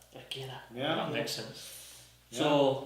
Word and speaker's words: Akira: The Japanese language is all not monotone. I think the word is monotone, as in no syllables are extended. Yeah. Yeah, they're all the same length, so it'd be Akira. Akira.